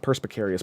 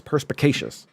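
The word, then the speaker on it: perspicacious: Perspeacious, perspeacious, perspeacious, not perspecarious, perspeacious, ppeacious reader, perspeacious reader,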